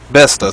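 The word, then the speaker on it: Bethesda: I'm actually, how do you pronounce it? Bautista? That's the company, right? Bautista? Besta.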